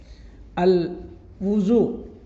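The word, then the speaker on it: الوضوء: তাহলে এটার সঠিক উচ্চারণ হবে আলুজু ওয়াজুনা। আল হুজু ওর উপরে পেশ হবে।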